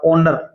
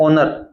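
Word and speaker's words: honour: एक होता है एच ओ एन ओ यू आर ओनर इससे पहले भी एन आता है। इसमें एच बोला नहीं जाता। साइलेंट रहता है ओनर।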